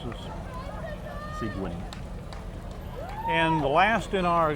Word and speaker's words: Seguin: You pronounce this Seguin.